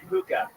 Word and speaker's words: hookah: Tony, it's pronounced hookah.